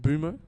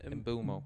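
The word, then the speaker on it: Mbeumo: I I like and Bumo apparently is how you say it. Bumo. Bumo. Yeah, there was a video of him saying, "My name is Brian Bulmo."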